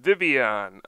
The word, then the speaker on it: Vivillon: to revolve around this Pokemon vivon um pretty sure that's how you pronounce it it's probably supposed to be some kind of French word uh considering Pokemon XY is based off of France but anyway we're focusing